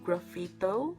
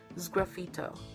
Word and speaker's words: sgraffito: I think I mispronounced it to graffito, but it's sgraffito.